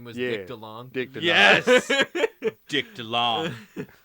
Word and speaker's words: DeLonge: his name is French, and it's pronounced DeLonge in French, DeLonge. but the American tongue is DeLong. DeLong. Yeah, like long DeLong.